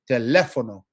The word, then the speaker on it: teléfono: If a word ends in O, I need to stress the next to last syllable. Okay. And so we have telefono. Okay. So next to last, teléfono, right? Well, we have a written accent.